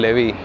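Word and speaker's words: levy: तो टैक्सेस हटा के और मेडिकल लेवी या फिर मेडिकल लेवाई भी बोलते हैं उसको।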